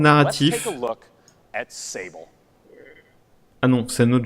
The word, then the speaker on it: Sable: Et Sable, ça veut pas dire sable. Non, mais c'est. Et ça se prononce Sable.